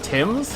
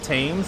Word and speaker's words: Thames: now at a tower bridge um on the tim's yes i do know it's pronounced tim's uh i will now proceed to call it tames at least once i am so sorry in